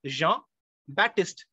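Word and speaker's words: Jean-Baptiste: name his original name Jean Baptist poin j e a n Jean batist p is silent in the middle b a p t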